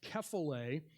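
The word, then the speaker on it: κεφαλή: Another key to this is the Greek word for head, which is pronounced kephale, but when we bring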